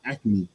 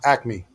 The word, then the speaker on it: Acme: right is it active is it acronymy or acne nah acme acne oh son i've been saying this joint